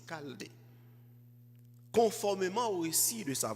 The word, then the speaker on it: Chaldée: Ça s'écrit avec un CH, mais c'est Chaldée.